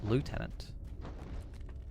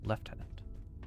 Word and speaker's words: lieutenant: So depending on where you're from, it's pronounced differently. It's either lieutenant or lieutenant. In America, it's lieutenant. But in the UK, at least, it's lieutenant. Even though it's spelt lieutenant. It's very weird.